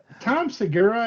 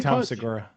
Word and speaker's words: Tom Segura: Now, Tom Segura, I think is how you say.